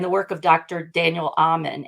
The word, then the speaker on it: Amen: work of Dr Daniel Amen a spelled like amen y'all who are listening a m n is amazing in helping